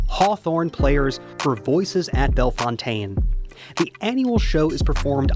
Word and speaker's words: Bellefontaine: I told you that I grew up in Belf Fountain neighbors. Oh, yeah. We have to talk about the pronunciation. Yes. But it the cemetery is Belf Fontaine.